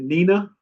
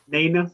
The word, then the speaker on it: Naina: Is it Nina? Is that how you say it? Naina.